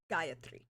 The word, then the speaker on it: Gayatri: these people are yeah I added an extra a in there just to emphasize the first syllable okay Gayatri Gaia three okay yeah um oh